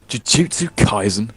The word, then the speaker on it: Jujutsu Kaisen: Anyway, so yeah, Jujutsu Kaisen.